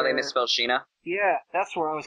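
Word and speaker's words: Sina: I don't but it's it would still be pronounced Sheena it's fine but Maria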